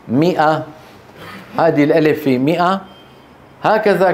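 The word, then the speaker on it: مائة: 00 قال بل لبثت 100 عام مو ماءه عام انتبهتوا فتكتب ولا تلفظ فحتى لا يلفظها احد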